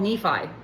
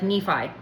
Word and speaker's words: Nephi: It was probably pronounced Nephi, but readers of the Book of Mormon pronounce it like Nephi.